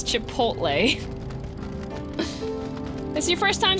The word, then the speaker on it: Chipotle: It's not pronounced that way? No, it's Chipotle.